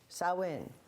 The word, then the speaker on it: Samhain: s o w in saw in so you think about a kind of like a female pig right and then in and then you have